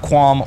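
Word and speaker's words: qualm: sir I have no quam with you even though you clearly have quam with me this is a fun word to say you know quam it's also it's spelled q u a l m maybe that's I don't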